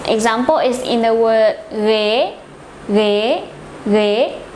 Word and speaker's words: ghế: Its example is in the word ghế, ghế, ghế.